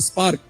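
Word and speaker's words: SPARC: civilation which is called the spark SPC because it rhymes with spark but it is actually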